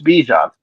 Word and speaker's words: Bijan: Bijan, it's Bijan.